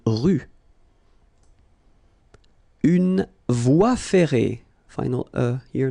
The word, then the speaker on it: rue: Une rue. Okay, remember final not pronounced. Une rue.